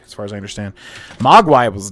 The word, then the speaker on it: Mogwai: I think I was pronouncing it Mogwai.